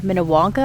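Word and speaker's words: Minnewanka: come and explore around Lake minow wanka I believe is how it's pronounced this is the largest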